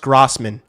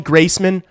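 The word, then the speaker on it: Graseman: Like, is this really what we're My last name My last name is spelled G R A S E M A N. It's pronounced Grassman.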